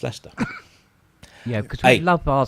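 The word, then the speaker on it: Leicester: to write leester I I always say it ftic liester then I know that it's Le i c s t e r but it's just leester yeah because we love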